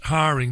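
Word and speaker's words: Häring: his excellent website can be found at Norbert Haring that h a e r i n g if I'm mispronouncing your surname Norbert don't hesitate to tell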